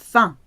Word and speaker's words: faim: Faim, it's pronounced faim.